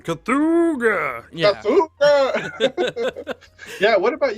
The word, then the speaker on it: Cthulhu: It's like an old car horn. Cthulhu.